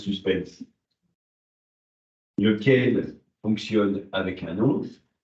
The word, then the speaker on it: suspense: Ça dit suspense en français, hein, même ça se prononce suspense.